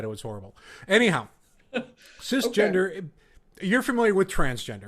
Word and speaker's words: cisgender: you lived as a CIS gender heterosexual man. It's pronounced cisgender, by the way. Okay, see, I don't know that. Thank you. That's Cisgender, because I'm like yeah, CIS, the TV show, yeah.